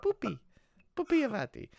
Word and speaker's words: Pupi Avati: Okay, rip-offs, including interviews with key filmmakers such as Sergio Martino, Alberto Di Martino, Pupi Avati. You have to say his name like that. It's like Pupi Avati.